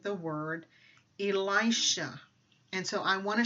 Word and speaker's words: Elisha: So the pronunciation of the word that they're saying online by an Israeli woman is Elisha, or Elisha.